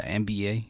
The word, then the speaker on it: Mba: My last name is Mba. It's spelled MBA. But, saying just like, man, I want to do that.